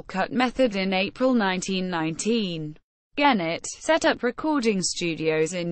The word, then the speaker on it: Gennett: Genet pronounced with a soft G was an American record